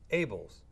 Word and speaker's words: Abeles: and my guest today is abels but it's spelled abellus that's correct right but what's able but